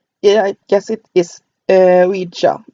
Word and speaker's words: Ouija: Yeah, I guess it is Ouija. It's supposed to be pronounced as because it's supposed to be a combination of we and ya.